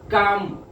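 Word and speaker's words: calm: इस तरह काम काम, ये एल साइलेंट है, का और ये एम काम, लाइन से ऊपर लिखेंगे।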